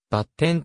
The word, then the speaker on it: X: シリーズ第 10 作タイトルは x と回答でバッテンと読むハードが playstation 2